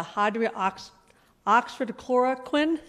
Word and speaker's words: hydroxychloroquine: You may have to help me with this, the pronunciation of this drug, but have doctors at your hospital prescribed the hydroxychloroquine?